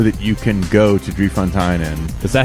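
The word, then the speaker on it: Drie Fonteinen: So I don't know what it costs there, but I know that you can go to Drie Fontainen.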